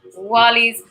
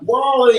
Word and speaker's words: Wall-E: And we're going to start off with Wally's body. You have to say it like Wally. Wally. You can't just say it.